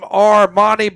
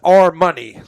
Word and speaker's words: Armani: And often we've called him Armani, but he prefers it pronounced our money like our money.